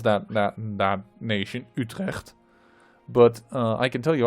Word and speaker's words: Utrecht: pronounce that that nation utrecht but i can tell you i'm dutch that's actually how you should pronounce it it's it's very dutch the dutch language i